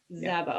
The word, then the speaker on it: Szabo: this group and sazabo am i pronouncing your last name correctly sabo sabi is not it's hungarian so zaba okay is i'm